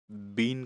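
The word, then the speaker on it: been: तो परफेक्ट में हमने देखा कि बीन का यूज होता है, इसको बिन प्रोनाउंसिएशन करते हैं, बिन।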